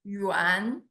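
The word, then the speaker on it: Yuán: This Yuan plus the second tone is my family name. Yuan.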